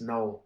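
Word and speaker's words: Knull: Null? Is that how you say his name? Null? Yes, Null.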